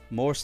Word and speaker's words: morse: M M M M Mor Morse like the code but you pronounce it